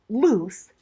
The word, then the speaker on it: loose: rhyme with choose c-h-o-o-s it rhymes with goose g-o-o-s-c usually we use loose l-o-o-s-e as an adjective